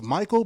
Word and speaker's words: Michale: He goes by the name of uh I want to say it's it's Michael, but it's spelled Male Graves.